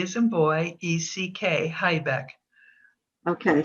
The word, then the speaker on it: Haibeck: H-A-I, B as in boy, E-C-K, Haibeck. Okay, so don't make the mistake that I've made and call her Haibeck, because that's not the correct pronunciation of her name.